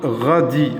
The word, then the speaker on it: radis: Oignon, courgette, citrouille, tomate, radis, le S منقروش.